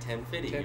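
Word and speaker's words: Ten FIDY: That's how you say it, 10-50. You really do. It's F-I-D-Y, Fitty.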